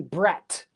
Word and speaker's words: brat: couple couple weeks ago, the t sound at the end is actually a stop. You don't go br. B r a t. B brat. No, you say brat in stop. Don't say br. You have to say brat and stop your sound.